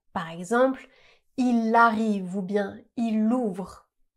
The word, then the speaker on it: il: Devant une consonne, on va rarement prononcer le son le du mot il. On va simplement prononcer i, ce qui va donner il vient, il vient, il y en a, il y en a.